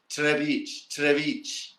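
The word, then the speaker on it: Třebíč: Here, Trebic, Trebic, but it's not an R. It's a J. It's a Tj, Trebic, and then the C has the same accent.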